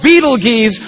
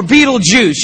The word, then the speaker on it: Betelgeuse: heard about this star it's called beetle geez or Betelgeuse you can pick your pronunciation I'm obviously going with Beetlejuice and Betelgeuse is incredible